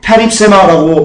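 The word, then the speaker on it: περίψημα: 찢기는요, 페립세마라고 발음합니다.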